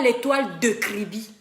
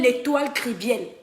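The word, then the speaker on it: L'Étoile Kribienne: page prononcent eux bien je ne m'appelle pas les toiles de kribi je m'appelle l'étoile kerviel prononcé bien mon nom parce que la stratégie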